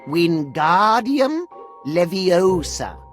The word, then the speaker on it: Wingardium Leviosa: like this wingardium leviosa pay attention to your pronunciation it's wingardium leviosa remember make the gar nice and long also the wrist